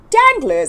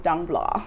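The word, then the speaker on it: Danglars: heard this guy's name I was in my head pronouncing it danglers I was like danglers danglers and actually his name is dang blah so so yeah thank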